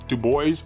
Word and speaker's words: Du Bois: black folks by w.e.b du bois or dubois depends on where you come from and who probably first taught it to you as far as the pronunciation of the name this is a series